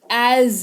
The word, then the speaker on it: as: जैसा या जैसे इस्तेमाल करते हैं शब्द एज का। देखो एस लगा हुआ है, लेकिन यहां पर उच्चारण ज ऐसे करके होगा, बाहर पड़ेगा ना, ज एज इसको पढ़ेंगे। जैसा वह कहता है वैसा करो, डू एज ही सेज।